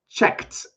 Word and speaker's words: checked: And actually, it's going to have a T sound at the end, even though I write ED. So ready? Listen and say, checked up on. Checked. Get that T sound.